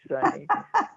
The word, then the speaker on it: Sunie: Sunny is spelled Sunie and not Right.